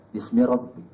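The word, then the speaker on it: بسم رب: membaca iqra bismiabbikaadzi khalaq tapi membacanya itu nanti dengan R ya Bismi Rabb membaca Apa saja membaca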